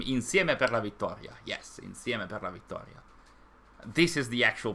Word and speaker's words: insieme per la vittoria: Yes, insieme per la vittoria. This is the actual pronunciation, not the super heavy one.